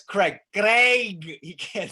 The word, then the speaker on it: Craig: So Craig is a diphthong in English that is almost impossible for native Spanish speakers to pronounce.